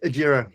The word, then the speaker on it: Agiro: And you're the founder and managing director of Agiro. Is that how I pronounce it? That's correct, Agiro.